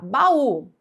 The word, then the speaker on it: baú: E é por isso que essa palavra é acentuada, não é por ser oxítona, não. Então aqui é pela regra dos iatos. Baú, tá certo?